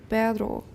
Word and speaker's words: perro: As illustrated in Table 7.6, Spanish distinguishes between a trill and a tap in words such as perro, dog, and perro, but.